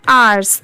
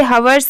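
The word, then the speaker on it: hours: ये है आवर्स। इसे हावर्स नहीं पढ़ेंगे क्योंकि यहाँ पर H लेटर साइलेंट होता है, तो हम सिर्फ इतना पढ़ेंगे।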